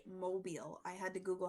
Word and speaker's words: Mobile: A is Savannah, B New Orleans, C Charleston, and D Mobile. I had to Google how to pronounce that and it is Mobile.